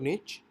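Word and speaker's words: niche: भी चेक करनी है निश मींस आप इसको इस तरह से प्रोनाउंस कर सकते हैं निश और निच और इसका जो बेसिकली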